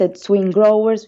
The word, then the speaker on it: SwinGrowers: And the first album, pronounced SwinGrowers, was released in 2012 with our English label Freshly Squeezed Music.